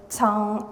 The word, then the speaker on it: Cong: Uh my name is Tong. Um it's spelled as C but pronounced as TS sound.